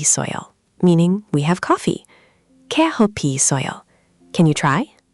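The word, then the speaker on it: 커피 있어요: Keohpi isseoyo. Can you try? Keohpi isseoyo.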